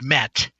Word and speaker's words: met: It's pronounced met, and it refers to a 10-day Egyptian week.